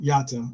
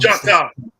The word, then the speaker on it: Jota: Actually, if you actually spoke to him, the way he pronounces it is the Portuguese way. Is like it's the same way as like in Spanish. J's aren't pronounced as J. Like in Spanish, it's pronounced like H.